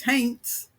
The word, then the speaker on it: haints: I always feel like I'm saying haints wrong. No, you're saying it right. It's haints.